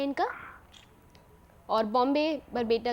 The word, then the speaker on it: Barpeta: और बॉम्बे बरपेटा जो, बॉम्बे नहीं, बरपेटा, बरपेटा। बरपेटा। एक बार स्पेलिंग फिर से बोल देंगे।